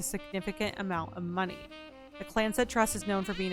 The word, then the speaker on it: Clanced: Oh, okay, the Clanced, pronounced Clanced Trust.